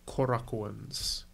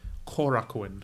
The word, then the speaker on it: Korakuen: he scheduled for these Korra cones Korakuen Korakuen as I'm told is how to pronounce it I take working and